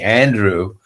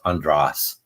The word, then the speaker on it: Andras: I first came here people started calling me Andrew and I I they they thought that uh you know I'd want to americanize my name but it's in English that is pronounced andras um most people do